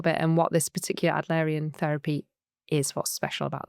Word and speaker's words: Adlerian: And you're an, I know I'm going to mispronounce this, Adlerian? That's it, Adlerian, yeah.